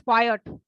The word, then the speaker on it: quiet: And the next word is quiet. What do you mean by quiet? Stay silent. Silence. हाँ, silence नहीं, silent. Be quiet. मतलब शांति बनाए रखिए. Pronunciation थोड़ा different है. Quite नहीं है. Quiet and quiet.